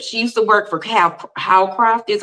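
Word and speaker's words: Hawcraft: She used to work for Howcraft, is how you say it. Howcraft.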